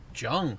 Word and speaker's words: Jung: i'm being joined by marshall jung that's how you say it that is correct marshall john yeah here to uh